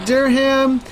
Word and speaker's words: Durham: beats per minute though absolutely Durham Durham is pronounced Durham thank you Duncan Thorp I appreciate that produced